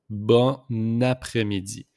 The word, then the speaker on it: bon après-midi: We just make the liaison here with the N and A. So it pronounced bon après-midi.